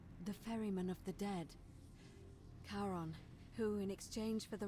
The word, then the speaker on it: Charon: it's a big coin your pronunciation is a little off the name you heard wasn't Karen it was c h a r o n as in Caron the ferryman of the Dead karon who in exchange for the right coin helps